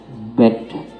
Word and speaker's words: bad: dalam simbolnya itu setelah B ada huruf A dan E bersambung, kemudian biasa ada huruf D-nya. Bagaimana cara pengucapannya kalau di dalam bahasa Inggris? Kalau bahasa Indonesianya BAD, dalam bahasa Inggrisnya adalah bed.